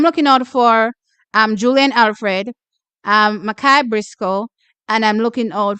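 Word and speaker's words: Mikiah: Sorry, not Makia. I was told how to pronounce her name. Makai Briscoe.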